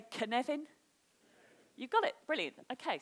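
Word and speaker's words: Cynefin: a Welsh word so can you all say the name Kevin to me like Kevin Costner's say Kevin put an urn in it's a can Evan you got it brilliant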